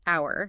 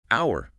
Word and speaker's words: hour: about the word hour the H at the beginning is silent so we pronounce it hour just like the word